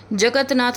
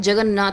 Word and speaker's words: जगन्नाथ: हैं एक हटाना है जगत नाथ नहीं होता है जगन्नाथ होता है जगत नाथ नहीं होता